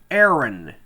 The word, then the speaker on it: Aaron: and should I call you Aon or Aaron Aaron Aaron you know in Trinidad we have so many different pronunciations for words and because of our dialect